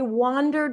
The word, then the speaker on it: wander: wonder all these different things and wonderer I wandered around the streets last night wander that's an